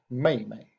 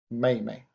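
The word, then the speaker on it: 妹妹: the younger sister and younger sisters pronounced Mamie Mamie so all these characters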